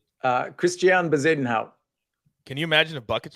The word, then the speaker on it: Bezuidenhout: Christian Bezuidenhout.